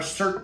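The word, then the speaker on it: SIRT: So first off, we've got our Cert Pistols. So that's spelled S-I-R-T.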